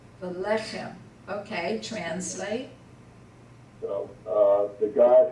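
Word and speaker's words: ולחם: And again, you have two segols, so the accent is on the first segol. Velechem.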